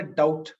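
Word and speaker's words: doubt: Dead இல்ல டவுட் அப்படிங்கிறதுல be silent, DEBT, DOWBT, பிங்கிறது சைலண்ட் லெட்டர்.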